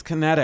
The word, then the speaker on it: Kinetic: It's Kinetic. There's an extra T in there. No, there's an extra K.